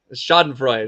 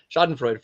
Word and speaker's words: schadenfreude: people that we exhibit schadenfrout if I'm pronouncing that right schadenfreude there you go shot and Freud for uh where we